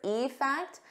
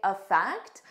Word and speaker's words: effect: information now e fact notice here when I say the individual word e fact I stress that e more but in a natural sentence I would just say effect I wouldn't stress it as much so it will sound very similar to aect the verb it's the sentence structure